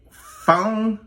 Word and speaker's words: phone: Phone. The P and the H, but you pronounce it as phone. The F is the f sound.